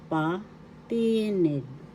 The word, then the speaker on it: patinig: First syllable pa second syllable tired syllable nig the accent is on the second syllable patinig patinig patinig in english vows